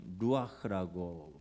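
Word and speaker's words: רוּחַ: 하나님의 영이시라면 성령님이이 하나님의 영은 루아흐라고 발음을 하는데 히브리어입니다.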